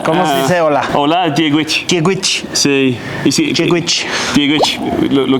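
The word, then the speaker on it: Dia dhuit: Hola, Diegwich.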